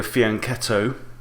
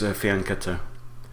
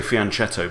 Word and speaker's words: fianchetto: A lot of people say fianchetto because it's spelt with a CH, but in Italian that is pronounced k, not ch, as it would be in English.